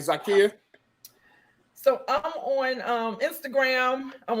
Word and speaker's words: Zakiyyah: So you can find me there, and you can also find me on Facebook at Zakia, ZAKIYYAH, 8 letters, 3 syllables. Zakia.